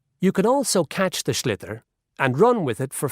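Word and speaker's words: sliotar: this ball called a schlitter that's s s-l-i-o-t-a-r so it's not spelt the way it's pronounced you hit it into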